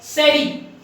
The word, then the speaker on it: Jerez: इसको तो वैसे JEREZ ऐसा लिखा जाता है, लेकिन इसको पढ़ा जाता है सेरी। ठीक है, SHERRY, इट is pronounced as सेरी and written as जेरेज।